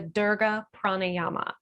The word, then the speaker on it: Dirga Pranayama: So the other thing that I combine with this is what is called the Dirga Pranayama. And it's spelled D-I-R-G-A, pranayama.